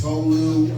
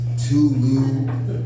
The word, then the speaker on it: Tolu: My name is Tolu, aka the. Again, that is Tolu, not Tulu or Tolo.